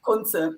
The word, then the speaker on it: Kuntze: It's Kuntze, Kuntze.